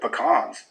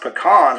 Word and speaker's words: pecan: It's also worth noting that it's pronounced pecans when talking about just the nuts, but if you're talking about a pie, it's a pecan pie.